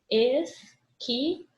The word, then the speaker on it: esquilo: Esquilo. Esse que, o i fica junto, tá? E o uzinho não é pronunciado.